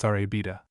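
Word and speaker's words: La Rábida: the sand dunes called La Rabida, pronounced Arabida.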